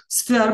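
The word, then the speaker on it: sphere: জীবনের many life, many স্ফেয়ার্স ইন my life. আমার জীবনের নানা ক্ষেত্রে, এটা আসলে এইভাবে আমরা শুনে থাকি আমরা, যদিও স্ফেয়ার উচ্চারণটা কি স্ফেয়ার, SPHER, স্ফেয়ার।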